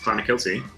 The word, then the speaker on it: Clonakilty: Clonakilty. Yes. Wait, I said it right? That's how I think it's pronounced, Clonakilty.